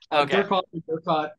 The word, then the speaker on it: Durkoth: Durkoth, and it's I think the graphic audio people made it harder. But Yeah, for me it was Durkoth, but I don't get wound up in the pronunciation sure.